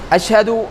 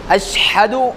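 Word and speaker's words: أشهد: வைக்கணும் அப்படியான ஒரு இடம்தான் அஷஹது அஷ்ஹது அப்படின்னு ஸ்பீடாவும் போயிறக்கூடாது. அந்த ஷீன் நல்லா தெளிவா தெரியற அளவுக்கு அஷ்ஹது அஷஹது அப்ப நம்ம தெளிவாக்கணும்.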